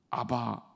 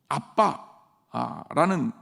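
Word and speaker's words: אבא: 그래서 이 아빠라는 아빠는 어린아이의 언어다. 그래서 되게 재미있는 게 우리말하고 실제로 비슷하잖아요. 그렇죠? 히브리어로 아바, 아빠. 정확하게 얘기하면 아브라는 단어가 아버지라는 뜻이거든요. 근데 아이들이 이걸 발음하게 되면 아빠 이렇게 발음하는 거예요.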